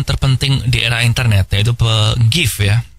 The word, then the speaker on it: GIF: Dan salah satu penemuan terpenting di era internet yaitu GIF ya. Bacanya yang bener GIF sih, tapi gue tetap lebih suka baca GIF.